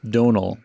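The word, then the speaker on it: Domhnall: man and he says it's like tonal but with a d so it's donald trump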